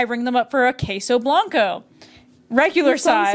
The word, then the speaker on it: queso: I don't know why I'm pronouncing it queso when I'm literally Hispanic. It's queso, but whatever.